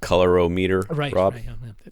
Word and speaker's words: colorimeter: and seeing if the it's pronounced color oh meter color color oh meter